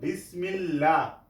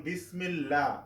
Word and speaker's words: বিসমিল্লাহ: একটি উদাহরণ আছে যেমন বিসমিল্লাহ এখানে লা উচ্চারণ হচ্ছে পাতলা করে কেন এই লফজালার ডাইনে কি আছে জের সেজন্য আমরা লা উচ্চারণ করেছি যেমন বিসমিল্লাহ বিসমিল্লাহির রহমানির রাহিম তাহলে